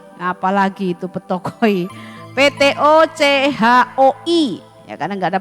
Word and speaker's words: ptochoi: Matius 5 ayat 3 ini kata miskin di sini menggunakan kata bukan penikros, bukan penes, tetapi memakai kata petokoi. Nah, apalagi itu petokoi?